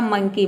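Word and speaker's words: monkey: कि pen nine है यदि किसी वर्ड के अंत में ई वाई अगर एक साथ हो तो ई वाई को हम ई प्रोनाउंस करते हैं जैसे मंकी एम का हो जाएगा म ओ का हो जाएगा अ एन का जाएगा आधा न और के का हो जाएगा पूरा क और लास्ट में ई वाई का हो जाएगा ई ये हो जाएगा आपका मंकी मंकी मतलब होता है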